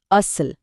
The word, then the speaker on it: असल: सही शब्द है असल, जिसका उच्चारण है अस ल। यहाँ अस लंबा है और ल छोटा, तो इसका वजन हुआ 2 और 1, यानी 2 1।